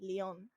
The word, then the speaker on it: Lyon: how it's written uh the name uh reminds me of the of the french city of the same name that's pronounced actually lyon i love this character